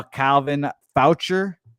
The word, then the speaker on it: Foucher: Calvin Foucher, which apparently is how you say his name, 18 pitches last night, got the save.